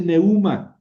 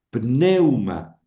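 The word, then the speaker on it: πνεῦμα: El acento se pinta sobre la débil, pero se pronuncia siempre sobre la fuerte. Entonces dice pneuma, pneuma, pneuma, ¿ven? Quiere decir aire o quiere decir espíritu. Es una palabra este grave. Grave. Tiene dos sílabas. Neum ma. ¿Por qué? Eu en una sola sílaba porque es un diptongo, meu ma. Y cae el acento en la penúltima sílaba, por eso se llama paroxítona.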